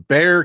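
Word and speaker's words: Bexar: we I you know San Antonio is in Bear County spelled b x a r don't know why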